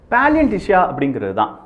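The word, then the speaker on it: паляниця: of Ukraine, is called Paliantysha. This Paliantysha, is a bread variety created in Ukraine. So, this Paliantysha, this word, can't be pronounced by Russians like Ukrainians do.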